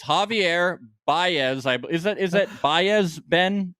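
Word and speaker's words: Báez: Is that Baez, Ben?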